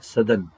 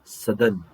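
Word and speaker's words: Southern: ದಕ್ಷಿಣದಲ್ಲಿ ಇರೋದ್ರಿಂದ ದಕ್ಷಿಣ ಮಹಾಸಾಗರ ಸದರ್ನ್ ಉಚ್ಚಾರಣೆ ಕೇಳಿಸಿಕೊಳ್ಳಿ ಸದನ್ ಸದನ್ ಓಷನ್ ಅಂತ ಹೇಳಿ ಕರೀಬೇಕು ಉಚ್ಚಾರಣೆ ಹಂಗೆ ಉತ್ತರದಲ್ಲಿ ಇರೋದು ಆರ್ಟಿಕ್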